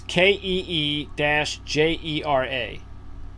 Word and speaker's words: Kijera: Kijera, named for a safari lodge in Botswana that Mr. Rigney favors for a getaway. So it's Keejera.